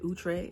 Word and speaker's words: Outre: So it's from OUTRE. Apparently that's how you say it, OUTRE.